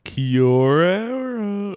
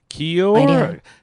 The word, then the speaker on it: Kia ora: So everyone, give Steve a nice Kiora. Or I said that horribly. Kiora. See, it throws me off because it's two words when he writes it, but he pronounces it as one word.